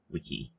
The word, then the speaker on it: Wiccy: Sorry, I was gonna say, I hate to use it as a comparison, but you pronounce the name the same like Wikipedia. Wiki.